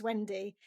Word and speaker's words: Wendy: And I also, it never fails to amuse me that my name is Wendy. Which rhymes with Bendy.